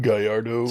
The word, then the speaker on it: Gallardo: It's pronounced Gallardo.